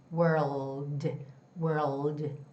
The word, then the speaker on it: world: So, when you try to make that L sound, somehow my, you know, the jaw opens up a little bit. Oh oh oh. So, it's world world.